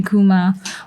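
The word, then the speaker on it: Eucheuma: cosmetics um and um so it's spelled e-u-c-h-e-u-m-a akuma but you know when you when you spell that phonetically like how we do in korea it would be like i-k-o-m-a my mom's in like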